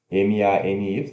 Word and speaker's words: many: M-A-N-Y, money, né? Mas pronuncia M-E-N, man, E, many, many.